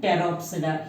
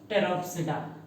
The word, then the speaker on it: Pteropsida: Lycopsida, Spinopsida and Pteropsida. Here also P will be silent. Pteropsida.